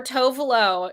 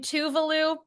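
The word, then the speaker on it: Tove Lo: Talking rather, blank by Tuvalu or Tovalo. She says her name Tuvalu, so I'm gonna say it like that.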